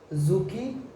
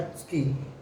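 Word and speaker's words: 突き: Okay, तो सबसे पहला जो हमारा वर्ड है जापानीज़ में वो है जुकी या त्सुकी। ओके, इसको प्रोनाउंस करने के टाइम पे कोई सुखी भी बोलता है, डी साइलेंट है इसमें।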